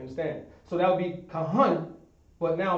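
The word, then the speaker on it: כהן: So you would leave off this a and just pronounce that n.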